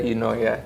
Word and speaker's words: Eunoia: E namanya adalah Unoya. You know bacanya? You know you knowya. Tapi bukan you know ya. Bukan kamu tahu ya. Bukan. Tapi tulisan ee Yunani bahasa Yunani.